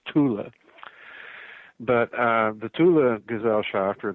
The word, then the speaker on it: Thule: It's usually mispronounced Thule Society, right? Thule. It's not Thule. In German, it's Thule.